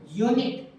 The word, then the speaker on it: unit: अब इंग्लिश वाला वोवल तो इसमें आ रहा है, लेकिन इसका प्रोनाउंसिएशन करेंगे तो क्या बनेगा, यूनिट। ये आ रहा है, ये होता है सर कॉन्सोनेंट, तो आर्टिकल क्या आएगा, ए आएगा।